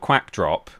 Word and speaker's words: Quackdrop: Um, technically I do have a channel where the reason it's called Quackdrop is cuz it rhymes with backdrop, I suppose.